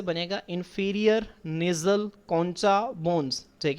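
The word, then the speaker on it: concha: अच्छा बच्चों अक्सर जो है वो इसको इंफीरियर नेज़ल कोनका पढ़ा जाता है। ठीक है? लेकिन जो इसकी ट्रू प्रोनाउंसिएशन है जो इसकी असल प्रोनाउंसिएशन है वो क्या है? इंफीरियर नेज़ल कौन सा बोनस?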